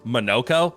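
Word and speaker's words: Monoco: And I know that his pronunciation, as we've heard multiple times, is Monokco with the emphasis on the no.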